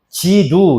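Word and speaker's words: 基督: 그러면은 지두 이렇게 읽어요. 지두.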